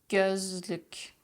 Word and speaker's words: gözlük: Gül, gül, söz, söz, gökyüzü, gökyüzü, gözlük, gözlük, görüntü, görüntü. See how everything is at the front.